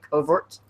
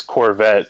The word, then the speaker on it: Covert: pronounce your last name covert yeah that's that's it like covert operations okay most people most